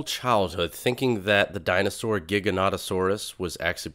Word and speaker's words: Giganotosaurus: went my whole childhood thinking that the dinosaur Giganotosaurus was actually pronounced gigantosaurus just because I misread it and now I